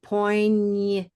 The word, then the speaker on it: poignant: Poignant. What vowel is this? E. Poignant. E. Poignant, poignant. We do Mhm. something though, Yeah. because it's not the stress syllable, we reduce it. Poignant, poignant. Is it Schwa. the schwa? It is the schwa, exactly.